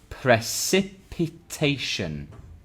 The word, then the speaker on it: precipitation: Precipitation. How many syllables? Precipitation. 5 syllables.